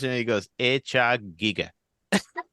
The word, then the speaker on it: Giger: away but there was like how do you pronounce it he goes AA Giga all right there you go with his big